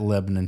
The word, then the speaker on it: Lebanon: Lebanon, That's how you say it, Virginia.